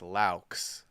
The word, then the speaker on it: Laux: this really quick it's say ow and then put an l and then an x so it's laux there you go problem solved